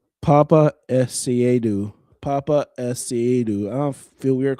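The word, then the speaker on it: Paapa Essiedu: So, his full name is pronounced Papa Esu. Papa Esu.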